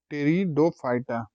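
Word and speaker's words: Pteridophyta: तो ये आपका हो जाएगा टेरिडोफाइटा, पी साइलेंट होता है, बोलते हैं टेरिडोफाइटा।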